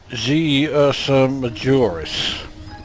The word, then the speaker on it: g Ursa Majoris: And we take these to G Ursa Majoris. And yes, I did pronounce that right. It's not 11, it's G.